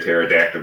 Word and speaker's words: pterodactyl: legs ground beef cheek why can't you hear a pterodactyl go to the bathroom because the P is silent you know just nice